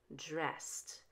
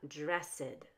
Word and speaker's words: dressed: syllable and it's changed the same with dressed dress ends in an S so when we add the e d to it it sounds like one syllable dressed it's not dressed now let's link past